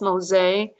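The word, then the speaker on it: Mose: which is also still there it's called fort mosay m-o-s-e but it's pronounced mosaic and the spanish owned this territory and if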